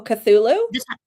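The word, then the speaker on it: Cthulhu: Oh, cthulu. Yeah. Yeah. The tentacled ones. I never know how to say that. But I'm getting like cat cthulu vibes from the little creature on the front.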